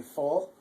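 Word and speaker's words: voll: In German, a V is pronounced like an F, so you say full.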